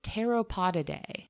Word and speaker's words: Pteropodidae: The greater flying fox belongs to the taxonomic family called Pteropodidae. That starts with a silent P, by the way. Oh, okay. Just like pterodactyl, actually. It's a similar root.